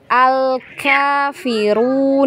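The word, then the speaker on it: الكافرون: pantulan Masya Allah Barakallah jangan ada pantulan di huruf lam Al Quran di posisinya ya lidahnya ujung lidahnya di gusi ya di gusi di gusi di gigi-gigi atas ya Biarkan di situ biarkan ngalir baru masuk di huruf Kaf ya Al Kafirun nah jangan ditarik kalau ditarik dia memantul memang jadinya ya Nah coba lagi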